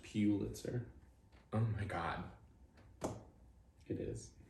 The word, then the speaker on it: Pulitzer: It's pronounced Pulitzer. Oh my God. It is. No, it's not. Pulitzer.